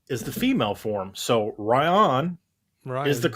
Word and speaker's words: Ryon: I said, "No, you got it right. It is Ryan."